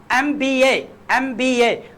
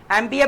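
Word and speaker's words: MBA: अब बात करें यहाँ पे एन आ जाएगा, एन के साथ आपका एमबीए की पहला वर्ड देखें, एम का क्या है, वॉवल साउंड दे रहा है, वॉवल साउंड दे रहा है, स्पेलिंग को नहीं, वॉवल साउंड आप प्रोनाउंस करके देखें। एमबीए कर रहे थे, ई आ रहा है ना, ई आएगा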